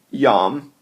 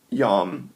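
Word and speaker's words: iam: a y um so the I kind of equals the Y sound actually and yam is going to be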